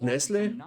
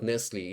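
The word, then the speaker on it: Nestlé: They got Nestle. Chocolate candies. Yeah, I'm saying Nestle because you know there's the A. So it's not Nestle, it's Nestle. And you are not pronouncing the T.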